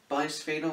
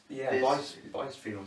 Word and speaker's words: bisphenol: And this is called bisphenol or bisphenol, spelled like this.